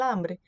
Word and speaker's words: hambre: Fala, porque o H é mudo, né? Então, el hambre.